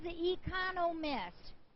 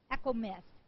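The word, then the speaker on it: Echomist: And the winner to this one is Econo Miss. I always say her name wrong. It's E C H O M I S T. Echo Miss.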